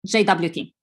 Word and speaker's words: JWT: short less formal tokens however in today's talk i will pronounce it as jwt why because simply it's the most popular version in the software world plus i'm not sure whether i pronounce jot clearly enough so json web token